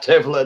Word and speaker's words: Devlin: it's pronounced Devlin in the Gaelic.